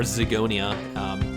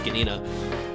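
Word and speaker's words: Zgonina: a 3-4 which means jeff skanina or zigonia but it was actually pronounced skanina is not going to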